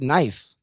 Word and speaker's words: knife: always silent from it it is but it's always silent it's there it's always going to be there it's like knife it's like yeah just